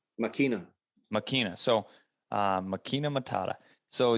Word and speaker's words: Máquina: How do you pronounce her name? Máquina.